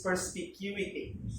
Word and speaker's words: perspicuity: So there are two kinds of pronouncing this depending on what region you are in. But the Philippines is so influenced by American way of English, so it's perspicuity.